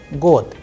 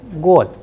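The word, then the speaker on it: год: Here the word is ending with de, god, but if you are pronouncing and pay attention minutely, then you would hear the sound of te, not de.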